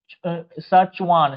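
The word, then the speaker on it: Schwann: जाता है सुान या स्वान मतलब लगभग वही है स्वान में तो यहां पर क्या होता है ना इनको बोला जाता है सचवान सचवान इस प्रकार से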